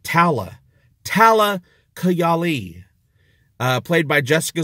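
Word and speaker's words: Talla: we finally met who we've been calling Tala but they weren't pronouncing her name Tala they're pronouncing it Tala Tala kigali played by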